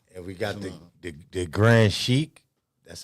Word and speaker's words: Sheik: And we got the Grand Sheik.